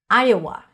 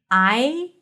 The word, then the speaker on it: Iowa: Iowa. Another great name. I-a-wa. And then when you transition from Iowa, it sounds like there is a yes sound there.